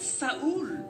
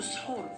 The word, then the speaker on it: Sahur: Alors lui, en fait, j'avais pas capté, mais en fait, Saoul, c'est en fait la mauvaise prononciation de Sahur.